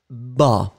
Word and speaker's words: bas: Alors, we do agree that the masculine form is ba. You write it B-A-S. So masculine form ba, and the feminine form, you double the S, so you will get bas. You really hear the S that is quite strong in that case.